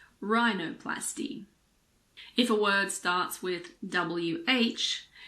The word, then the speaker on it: rhinoplasty: words girin ghetto Ghost similarly if a word starts with RH the H is silent like in rhinoceros or rhythm I always forget how to spell these two words there are also a lot of medical and scientific words that start with RH for example Rheumatic or rhinoplasty if a word starts